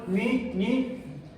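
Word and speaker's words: ν: letra cuál es Sí pero no es la letra mu de de micra no sigue después de esta primera vez en el alfabeto griego y se pronuncian ni ni crón es la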